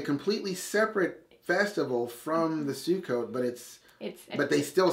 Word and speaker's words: Sukkot: Sukkot.